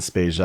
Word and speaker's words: Spezia: So my family says it like it rhymes with Asia in Spezia. I'm just gonna guess that Spezia is the more common pronunciation.